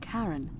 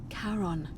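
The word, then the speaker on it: Charon: It's just as you described it, only your pronunciation is a little off. The name you heard wasn't Karen. Was it Sharon? C H A R O as in Karon.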